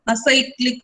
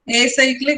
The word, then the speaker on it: acyclic: If a graph does not contain cycle means then that is called as acyclic graph. Pronounce it like this. Acyclic is also okay, but acyclic.